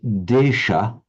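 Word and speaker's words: देश: In Sanskrit, it is desha, and as we know in the modern languages of northern India, the final ah is not pronounced. So in Sanskrit, Bangladesha, which when I say Bangladesh, it's that same desh, Bangladesh, the country of the Bengalis.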